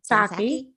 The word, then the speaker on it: Psaki: The answer is Jen Psaki or Saki. How do you pronounce her name? Saki. Saki. Mm-hmm. Saki. Jen Psaki.